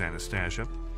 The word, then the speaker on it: Anastasia: She then introduces herself as Anastasia, and just as her name rhymes with anesthesia, she can make all his pains go away.